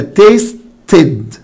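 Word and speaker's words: tasted: منطوق هو الت ساوند، هقول له خلاص يبقى الاي دي هتنطق او الدي اللي انا زودتها دي هتنطق اد، فبالتالي النطق بتاعها يبقى تيستد تيستد تيستد.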